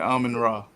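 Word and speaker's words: Amon-Ra: Ain't that how you pronounce his name? Yeah, Amon Ra.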